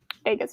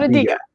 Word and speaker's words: Adega: Adega's here. Not Adiga.